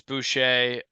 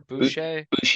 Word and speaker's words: Boucher: Boucher. I think it's Boucher. Like Bobby Boucher.